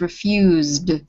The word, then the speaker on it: refused: is d, so it's refused. Refused. Good, yes. You don't have to make it too strong, but don't make it 2 syllables. It's not refused, it's refused.